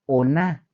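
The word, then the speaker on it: עונה: hebreo verdad esta palabra aparece como ona se escribe o n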